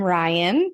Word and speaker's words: Ryann: for having me I'm Ryan pronounced like the boy name I have an extra n on the end which I always say